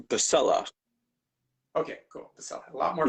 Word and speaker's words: Pacella: let and your last name is pronounced pacquella right if we were if we were in italy yes but in america it's been anglicized to pasella okay cool a lot